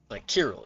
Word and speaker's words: Cyril: Remember, I thought Cyril pronounced like Kirill. Yeah, yeah. Which technically none of them are wrong. It's just like what is it called? Location-based pronunciations of his name.